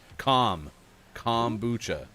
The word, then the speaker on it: kombucha: Kombucha. The well-known pronunciation, kombucha. Calm. Bucha.